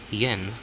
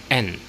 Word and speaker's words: 円: But in Japan, you don't call it as yen. You pronounce it as n. Again, n. Silent y.